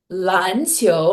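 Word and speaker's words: 篮球: 嗯 But because I learned how to say this word 篮球, 篮球, it's like I have the rhythm of two second tones back to back in my head.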